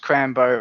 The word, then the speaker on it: Crambo: You know it's pronounced Crambo, right?